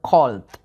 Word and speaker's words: cold: La palabra frío, pronunciarla con una O así grandota, cold.